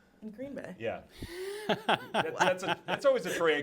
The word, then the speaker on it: Green Bay: He says Green Bay instead of Green Bay. The emphasis on the wrong syllable. Or it doesn't have to be Okay. wrong, just a different syllable.